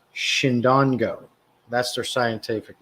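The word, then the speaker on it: Chindongo: It's called Chindon, so it's pronounced Shindongo.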